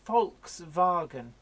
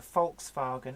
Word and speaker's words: Volkswagen: I call it a Volkswagen. It's like, oh look, it's a Volkswagen Passat. And most people don't hear that because they expect to hear Volkswagen. But I pronounce it as per the German way because that is just my thing.